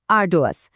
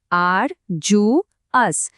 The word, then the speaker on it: arduous: আমাদের আজকের শব্দটা হলো আর্ডোয়াস। চলুন একসাথে বলি, আর জু আস।